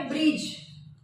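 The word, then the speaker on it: bridge: ठीक आहे त्यानंतर आहे ब्रिज ब्रिज ब्रिज म्हणजे पूल तर या ठिकाणी चा उच्चार होत नाही हे सायलेंट लेटर आहे. ब्रिज डी होतो का याचा उच्चार? नाही त्यानंतर ब्रूम ब्रूम म्हणजे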